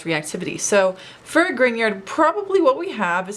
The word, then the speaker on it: Grignard: is the grignard which i know looks like it's spelled grignard but it's actually a person's name so be sure you say grignard like this is an NA instead of a GN so it's a grignard